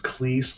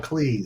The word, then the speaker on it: Cleese: John Cleese. It's Cleese, by the way. Everybody goes and says Cleese like cheese. Mm-hmm. And he said, no. It's like Sleaze. It's John Cleese.